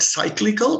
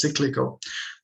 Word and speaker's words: cyclical: you may call it cyclical but it's actually pronounced as cyclical comes from the term business cycle so cyclical unemployment then you have